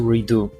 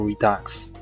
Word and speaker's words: Redux: calling postal redo postal redux or postal redux. I didn't know the X is silent.